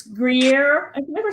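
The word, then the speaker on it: Gruyère: I mixed in probably about a cup and a half of it's Gruyere. I can never say it right. Gruyere.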